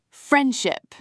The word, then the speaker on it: friendship: Friendship. The D almost vanishes.